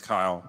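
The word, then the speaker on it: Kiel: me okay so just correction it's Kyle but that's okay it it's spelled differently so it's SP K iel so that's probably what the confusion is anyway so I'm gonna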